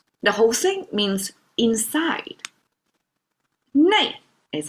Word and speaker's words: 内: 内 is how it's pronounced.